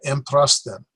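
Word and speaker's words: ἔμπροσθεν: So you have an m, pra, sten. And so emprasten. And the emphasis is on there.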